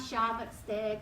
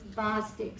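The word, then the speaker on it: Chvostek: at this right here this is how you say Bostic it's not sh stick or anything like that it's Bostic sign and so what you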